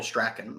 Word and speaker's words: Strachan: Helps to have him over Michael Strachan or Strachan. It sure Strawn. Yeah. Strawn? Sure Is that how you say that? Yeah, you pronounce it Strawn.